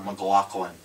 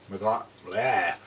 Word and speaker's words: McLachlan: There's like this Sarah McLachlan kind of I mispronounced that word too. McLaughlin. McLachlan.